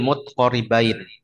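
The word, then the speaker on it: متقاربين: Kalau di matan ingat dibacanya sukun tak karena dia menyesuaikan wazan syair.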